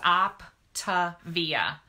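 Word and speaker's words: Optavia: the weight on and it's called Optive eeeh and it's spelled just like it sounds op Tavia and I love my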